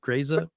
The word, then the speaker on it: Grese: Grese?